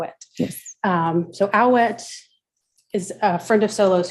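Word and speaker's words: Awet: name oh wait how it yes um so owlette is a friend of solos who was also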